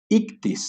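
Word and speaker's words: ἰχθύς: Que es con todas estas palabritas y con estas letras que hemos hablado, y se pronuncia como ictis, ¿no?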